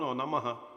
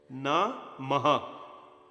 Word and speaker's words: Namaha: No, Namaha. Maha is not 2 syllable. Maha is 1 syllable. Namaha. That's 2, says 2. Namah Shivaya. The Maha is not 2 syllable, that's 1 syllable.